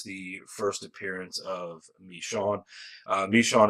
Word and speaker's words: Michonne: Michonne is how Kirkman pronounces it.